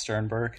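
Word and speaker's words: Stiernberg: your last name wrong didn't I it's just pronounced Sternberg okay so I close enough pretty simple sweet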